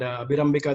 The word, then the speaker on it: Abhirambika: We have Abhirambika with us, and Abhirambika, that's how we pronounce your name.